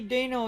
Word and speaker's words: Deino: is how to catch dano yes i finally looked up a video on how to say daniel so instead of dino and dano i don't really care about the pronunciation but it's called dano so dano is the